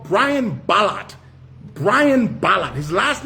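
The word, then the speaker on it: Ballard: team to look up a guy called Brian Ballot. Brian Ballot. His last name is spelled B A L L A R D.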